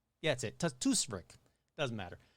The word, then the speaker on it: Tuktoyaktuk: The Freeman's Cove area of Tuktoyaktuk. Yeah, that's it. Tuktoyaktuk.